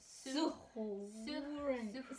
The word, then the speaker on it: zuhören: The U is pronounced ooh, not you. Zoo. No, and the Z is pronounced set. So like zoo. Zoo. Zuhören.